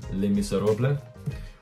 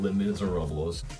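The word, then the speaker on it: Les Misérables: Currently reading Les Miserables, which is the actual pronunciation. It ain't Les Miserables.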